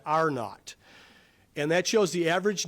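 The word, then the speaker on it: R0: It's called the uh if you look at that that symbol of of R uh lowercase T uh you pronounce that epidemiologists call that AR not and that shows the average number of people who become infected by an infectious person.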